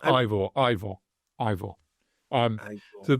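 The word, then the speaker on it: Eivør: H actually pronounced Ivore.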